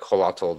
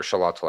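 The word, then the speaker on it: Xolotl: who had you know gods like halato that were uh or shalatal i think is pronounced pronunciation um that were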